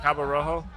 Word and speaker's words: Cabo Rojo: we went to we went down to uh Cabo Rojo okay did I say that right yeah yeah